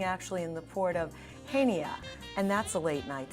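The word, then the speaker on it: Chania: way to pronounce it because it's actually spelled with a c and nobody would know better than you our destination expert ah thank you edie um the way it is uh pronounced is hanya and the reason we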